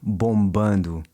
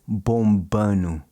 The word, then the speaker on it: bombando: Notice how he doesn't pronounce the D in bombando. He says bombando.